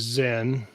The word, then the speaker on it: Xen: period Mike went off my character's name is Zen here one of the characters and it's spelled Xen and I haven't added